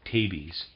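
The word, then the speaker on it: tabes: utter nonsense readers aside i'm pronouncing t-a-b-e-s as tabi's and then dorsalis end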